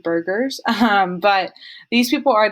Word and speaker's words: Burgesses: and that is the house of burgesses i think it's how you pronounce it sometimes i say house of burgers um but these people